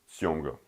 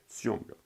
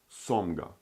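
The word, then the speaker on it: сёмга: Let's take the word syomga, syomga. This is syomga. S, malak, O, M, G, A. Syomga. If this would be written like this, with no malak, this would be pronounced somga, somga. But it is syomga. So basically this gives also like a y sound, like the i kratko, if you remember, y, like in yellow.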